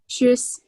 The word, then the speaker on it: Tschüss: Tschüss.